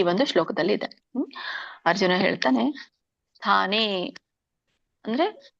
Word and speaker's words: ಸ್ಥಾನೇ: ಇದರ ಒಂದು ಉಚ್ಚಾರಣೆ ಅರ್ಜುನ ವಾಚ ಸ್ಥಾನೇ, ಸಕ್ಕೆ ದೊಡ್ತಾ ಇದೆ, ಸ್ಥಾನೇ ಋಷಿಕೇಶ ತವ ಪ್ರಕೀರ್ತ್ಯ ಜಗತ್ ವ್ಯಂಜನ ಇದೆ, ಜಗತ್ ಪ್ರಹರ್ಷತ್ಯ ಅನುರಜ್ಯತೆ ಅಂತ ಹೇಳ್ತಾರೆ.